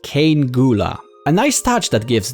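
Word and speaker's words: Cean Gŵla: This is apparently pronounced Cane Gula.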